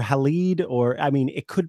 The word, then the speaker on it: Halide: of time here I'd I never pronounce this correctly I don't know if it's Hallett or halide or I mean it